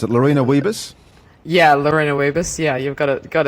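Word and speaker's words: Lorena Wiebes: it's uh well you tell us how to pronounce it lorena wiebers yeah lorena weavers yeah you've got it got it bang on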